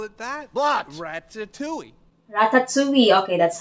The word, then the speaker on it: Ratatouille: hey why did they call it that Ratatouille Ratatouille okay that's how you say it Ratatouille regretably